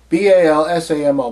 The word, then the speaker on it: Balsamo: James Balsamo? Balsamo? B-A-L-S-A-M-O. Balsamo. I think is how it's pronounced.